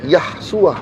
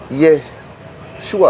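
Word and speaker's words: Yeshua: dipendekin jadi yesua nah mereka ini memaksakan untuk bacanya yahsua bukan yesua bukannya kenapa karena Yot dan He kalau di depan awal kalimat itu yang ketemu itu tidak pernah ya untuk nama Tuhan saya kasih contoh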